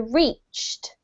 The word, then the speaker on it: reached: Okay, so the first one is this one here, reached. Reached, one syllable. Yes, one syllable, exact.